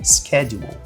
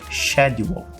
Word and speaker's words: schedule: devem estar mais acostumados com a pronúncia americana que é Schedule Schedule Schedule no inglês britânico essa palavra ela vai ser pronunciada como shadu shedule shedule inglês americano Schedule